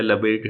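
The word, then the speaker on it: Lebesgue: कुछ वर्ड हैं जो फ्रेंच हैं, तो फ्रेंच वर्ड होने की वजह से देखिए हम लोग उनको वाया इंग्लिश पढ़ते हैं, तो हमारा प्रोनाउंसिएशन कई बार गलत हो जाता है। तो थोड़ा सा ध्यान रखिए। जैसे कुछ फ्रेंच मैथमेटिशियन, 2 तो मैंने यही लिख दिए, तो इनको प्रोनाउंसिएशन गैलोis या लबेड है।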